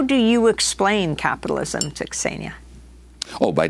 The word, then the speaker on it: Xenia: It's in Greek it's Xenia. In English you would say Xenia, and it's the goddess of, in ancient Greek, of kindness to foreigners.